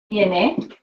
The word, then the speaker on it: tiene: Make sure you pronounce that final vowel. I knew what you were saying. Tiene.